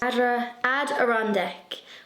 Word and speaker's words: Adirondack: people had commented with the correct pronunciation for the adder on deck adirondack chairs ad iron deck but then some people